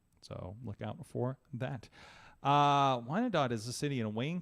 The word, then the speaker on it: Wyandotte: Well, on March 16th, I'll be in lovely, I'm not sure how to pronounce this, Wyandotte, Michigan. Wyandotte. Yeah, Wyandotte.